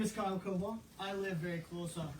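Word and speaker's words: Cobaugh: My name is Kyle Cobalt.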